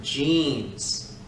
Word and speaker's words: genes: do because of your genes and it's spelled g g-e-n-e-s jeans jeans i love jeans i have seven pairs one for each day of the week not jeans g j e a n s genes with a g